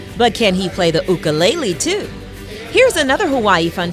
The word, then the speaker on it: ukulele: on what a lot of people call the ukulele on our show but as we found out the correct pronunciation is ukulele ukul and what does that mean well ukulele